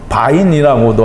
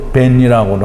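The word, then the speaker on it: בין: 사이에라는 말은 바인이라고도 하고 또 벤이라고도 하는데요. 바이블렉스에서는 바인이라고 하고 스토베스트에서는 벤이라고 합니다.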